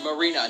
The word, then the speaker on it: Marina: a perfect Alright, one that is Nostalgia for his Critic girlfriend did Marine. this. But it is perfect. Oh, it's Marina, not Marine. I think I accidentally pronounced her name wrong.